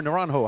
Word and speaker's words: Naranjo: Naranjo or Naranjo?